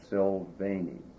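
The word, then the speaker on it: Silvagni: I think it's called, you don't pronounce the G, I think it's Sylvani.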